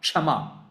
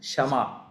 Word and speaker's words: Shama: It is not Kshama. Kshama is different. This is Shama. There's a slight difference in the name and the pronunciation.